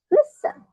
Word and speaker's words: listen: So we say listen, right? Listen. The stress is in the first syllable, on the first syllable.